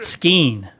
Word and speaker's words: Skane: Skeen. He pronounces it Skeen.